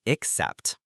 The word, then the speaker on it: except: The pronunciation is except, also with stress on the second syllable, but notice the initial X sound.